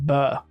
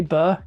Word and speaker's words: bear: Mount is coming now the way I say bear is that I say it like bur that's my accent so if I say bur you know what I mean but anyway UI mount's